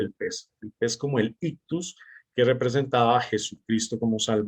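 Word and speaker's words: ἰχθύς: más antiguos porque porque pese en griego se pronuncia o se dice ictus y sus iniciales en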